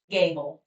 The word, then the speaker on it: Gable: guess it scares people it looks like it wouldn't be pronounced Gable but it is it's Gable um but you can